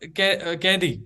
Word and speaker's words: Kaithi: So it's called Kaidi in Tamil. Yes, it's called I Tamil. always pronounce it as Kathi. Kaidi. Yeah, it's called Kaidi. Kathi. I always pronounce it Kathi.